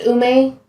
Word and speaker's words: Ume: all alone gene so is the dog's name pronounced ume yep um okay good that's what i thought it was the entire time it's a japanese plum so yeah dog didn't